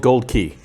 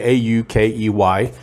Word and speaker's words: Aukey: does say a-u-k-e-y and i've heard a couple people pronounce it aki or aukey or something like that but what the big hint that for me is au is the symbol for gold on the periodic chart if you'll remember back